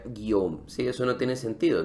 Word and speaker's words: Guillaume: Para un hispanohablante, tú ves una palabra en francés y dices, ¿cómo que Guillaume se pronuncia Guillaume?